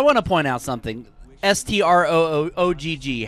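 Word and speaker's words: Strogg: Okay, Jason, how would you pronounce it? Stroog. Okay, so the opening cutscene just pronounced it Stroog. In a few minutes, when there's a computer cutscene, the computer voice pronounces it Strog.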